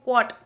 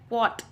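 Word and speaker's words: quote: Next coat, कई बंदे जो है इसे क्या बोलते हैं, क्वॉट, क्वॉट, ठीक है, लेकिन इसका मेन प्रोनाउंसिएशन होता है क्वॉट, क्वॉट, that's mean repeat copy out ऑफ by another.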